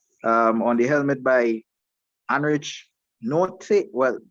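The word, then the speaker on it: Nortje: the helmet by Anrich Note. Well, I see they pronounce it Nokia.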